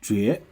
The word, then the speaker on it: 角: And then this character has another pronunciation, means different thing. So pronounce as 绝.